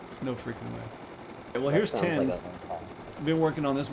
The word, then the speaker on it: Thames: You should be proud of me for pronouncing it. Because God knows half the other admins say, oh, is it Thames? The Thames River?